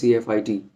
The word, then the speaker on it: CFIT: In this short video, I'll be telling you what is spatial disorientation and what is controlled flight into terrain, often pronounced as CFIT, CFIT.